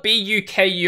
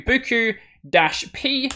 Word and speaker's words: Buku: It's spelled B-U-K-U.